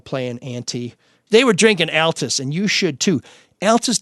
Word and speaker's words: Altes: the original Detroit logger that's Altus some people say it altest some people say it Altus why don't you to come see us to the cadu cafe we can settle this over a nice cold however you want to pronounce it alt's beer they are